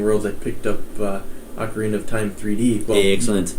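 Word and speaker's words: ocarina: if I say oine I know it's supposed to be pronounced acarina but I grew up saying okarina so that might slip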